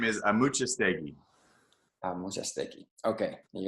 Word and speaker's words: Amuchastegui: name and so it's pronounced correctly yeah the pronunciation to your name of just that's hard but yeah my last name is a muchas thing I was just thinking okay yeah yeah if